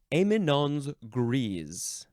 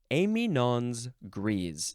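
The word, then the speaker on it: éminence grise: one next is this is a French phrase amon's gre amon's gre yes okay two words the first word is just spelled like Eminence but there is an a Accent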